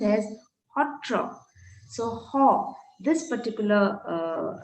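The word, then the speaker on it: sattra: satria gets pronounced as hotriya satra s-a-t-t-r-a gets pronounced as hotro so ho this particular sound is very peculiar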